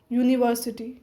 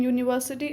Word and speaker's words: university: mobile a not and the vowel you in University and uniform and the vowel EU in European sound like you and these words